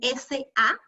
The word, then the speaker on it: samsó: de Cataluña la llaman samsó, no confundir con el sensó, ¿no? Este samsó, que es sinónimo de cariñena o mazuelo, se escribe S-A-M-S-O, ¿ya? Samso, así tal cual suena.